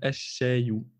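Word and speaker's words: الشاي: Mais à la prononciation, on va dire ash-shayu, et d'où la présence de la shadda ici. C'est pour montrer qu'on ne prononcera pas le lem.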